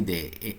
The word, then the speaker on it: the: এই যে পেন পি দিয়ে, ক্যাট সি দিয়ে, কাউ সি দিয়ে, হেন এইচ দিয়ে।